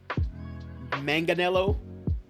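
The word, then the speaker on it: Manganiello: uh played by Joe Manganelo.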